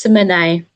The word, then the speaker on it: Simone: Did I pronounce that properly, Simone? So it's Simone. So, oh, Simone.